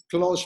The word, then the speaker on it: Clos: so close Posada closed the French would pronounce it Clos I mentioned that Catalan